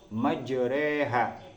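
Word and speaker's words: مَجْرٰىهَا: majreha wa mursaha innaabbiofururahim jadi cara bacanya adalah majreha walaupun di situ ada Alif J bacaanib yang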